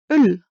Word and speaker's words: øl: Ø does not exist in English. It's like the French Ö or the German Ö. An example could be øl, beer. How to say it? You need to make a steady e sound like in the English word well. So where, and then you round your lips without changing the position of your teeth or your tongue.